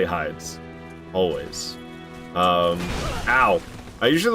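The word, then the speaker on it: Heide: Tower flame is it is it supposed to be Heidi it's spelled just like the name Heidi but I can't bring myself to say Heidi Tower of flame so I always say hides always um ow I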